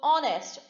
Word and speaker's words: honest: is a case where h is silent so honest o which is similar to o in the vowels so in that case